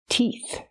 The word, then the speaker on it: teeth: tooth or many teeth use the long e sound like green beans teeth the T makes the TT release T sound TT and the last sound is FF make air with your tongue and your top teeth FF again T teeth 32 teeth that's how